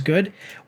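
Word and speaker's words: Gough: um Alfred and then the last name is go like it's spelled like van go so g u g h so I think it's go so Alfred go most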